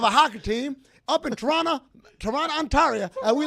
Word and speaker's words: Toronto: I love the histrionics and excellent pronunciation of Toronto. Because the second T is silent.